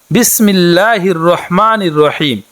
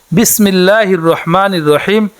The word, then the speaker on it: বিসমিল্লাহির রহমানির রহিম: বিসমিল্লাহটি এভাবে, বিসমিল্লাহির রহমানির রহিম। বিসমিল্লাহির রহমানির রহিম। উচ্চারণটি হচ্ছে বিসমিল্লাহির রহমানির রহিম।